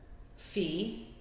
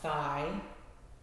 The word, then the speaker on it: phi: have a fee Factor fee is how that's pronounced not Phi um it may be pronounced in the Greek alphabet as Phi but it is fee in lrfd and this is your